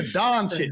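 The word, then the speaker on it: Dončić: I'm also looking forward to seeing how many times Jaydee says Luka Doncic, because that's my favorite pronunciation. Doncic, everyone in the world in the NBA, Luka Doncic is in the building.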